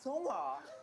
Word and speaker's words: Seonghwa: pronounce their names. Hi, my name is Seonghwa.